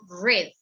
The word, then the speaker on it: read: the breakfast dishes so the pronunciation of this bird in the past is red red continue red bird